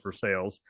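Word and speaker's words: Versailles: in its third year it takes place in versales Ohio which is spelled just like Versa in France but it's pronounced for sales um the BMI Event Center and this is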